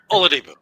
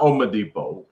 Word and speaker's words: Oladipo: victor oladipo's dave correctly victor oladipo you know it's not omadipo but i refuse to say olodipo well you just said